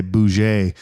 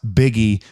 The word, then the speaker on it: Buege: once in a while because I always say Bou but it's it's pronounced biggie bu u e g uh joining us from